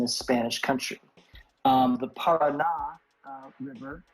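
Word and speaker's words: Paraná: Spanish country um the Parada River we should have an accent on the last a um is very famous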